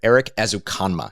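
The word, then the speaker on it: Erik Ezukanma: able to grab uh texas tech wide receiver eric azukama is is the way to pronounce his name as a comma is six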